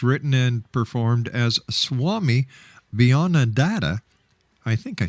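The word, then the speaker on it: Beyondananda: Once again, how do you pronounce the name of your alter ego? Bhayananda. Beyond Ananda.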